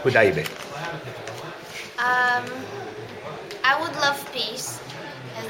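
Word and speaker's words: Hudaybiyyah: Hudabiyya. Hudaybiya.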